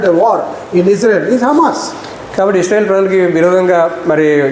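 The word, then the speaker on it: חמס: So it is pronounced as Hamas, CHAMAS, Hamas.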